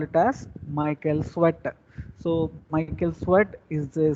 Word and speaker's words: Tswett: So in this name, or in his name, this T is silent. So we should not pronounce T. So we simply call it as Michael Sweat.